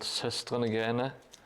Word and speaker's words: Søstrene Grønne: This is black air drying clay from a Danish company or chain called Søstrene Grønne, as they pronounce it in Denmark, because they all have their mouths full of potatoes when they talk.